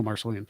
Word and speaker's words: Marceline: In, I believe it's Marceline, Missouri. Forgive me if I'm pronouncing that wrong. The hometown of Walt Disney, Marceline, yes. Oh, Marceline.